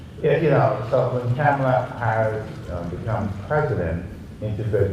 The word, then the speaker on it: Kamala: But what I tell people, I said Kamala Harris, right? Kamala, say it like Kamala.